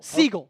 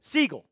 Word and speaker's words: Sigel: It is Maris Sigel. Seagull. Seagull. Maris like the bird.